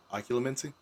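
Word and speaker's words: Occlumency: that word for me oculomency people keep doing this thing where they put an extra u in there it's like spelled like ocean l-u-m-e-n-c-y yeah everyone puts an extra u in there Haley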